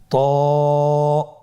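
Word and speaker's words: ط: তো হরফটি মোটা হরফ, এটা উচ্চারণের সময় অবশ্যই মোটা করতে হবে এবং উচ্চারণ করার সময় 1 আলিফ টেনে পড়তে হবে। আমার সাথে বলুন ত।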